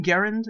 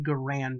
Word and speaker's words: Garand: pronounce it Garand, or however the inventor's name was pronounced. The man may have been Garand, but the weapon was a Garand. I have never heard a veteran from World War II or Korea pronounce it any differently. You can call it what you want, but I'm sticking with Garand because that's what GIs said when they weren't just calling it an M1.